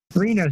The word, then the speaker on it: Reno: say your last names just like the city and Nevada Reno Reno so David Lee you